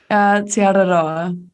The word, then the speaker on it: Te Araroa: Te Araroa. So it's a bit of a tongue roll on the R.